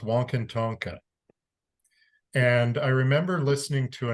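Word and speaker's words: Wakan Tanka: It's pronounced Wankantonka.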